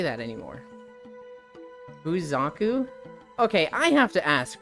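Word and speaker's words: Xaku: nice yeah hot friend if it is zaku it's Aku it's x a kuu it is pronounced zaku I'm not a huge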